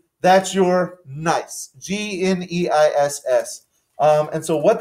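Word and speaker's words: gneiss: this is likely to be a nice g-n-e-i-s-s nice and what does its presence tell the geologists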